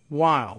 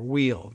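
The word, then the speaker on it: Weill: board desired by Chairman Sandy Weil, or Wheel, depending on how you pronounce that.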